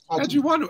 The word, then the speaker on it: Adjiwanou: Adjiwanou.